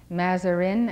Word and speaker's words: Mazarin: Mazarin, as it is pronounced in English.